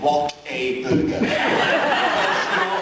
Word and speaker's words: Whataburger: It's like I didn't know it was called What a Burger. Americans say Whataburger. It's like a water burger.